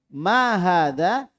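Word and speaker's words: ما هذا: kita baca sama-sama hai maahaadzaa aku mah ada Ayo kita melangkah ke bawah maahaadzaa Hai jadi Hai itu bacanya dua harokat ya walaupun tidak ada harokatnya tapi dibaca Dua harokat khazab iTunes Hai ini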